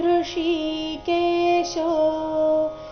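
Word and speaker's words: ಹೃಷೀಕೇಶಃ: ಬರಬೇಕು ಪಂಚಜನ್ಯಂ ಋಷಿ ಕೇಶೋ ಈ ಶಬ್ದದಲ್ಲಿ ಎರಡು ಪ್ರಕಾರದ ಶ ಬಂದಿದೆ ಋಷಿ ಇಲ್ಲಿ ಮೂರ್ಧನ್ಯ ಶಕೇಶೋ ಇಲ್ಲಿ ತಾಲವ್ಯ ಶೃಷಿ ಕೇಶೋ ದೇವ ದತ್ತ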